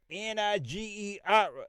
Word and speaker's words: Niger: This word Niger is pronounced nigger.